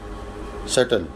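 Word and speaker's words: subtle: सेटल भी silent है।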